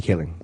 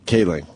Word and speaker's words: Kaling: Mindy Kaling. Kaling.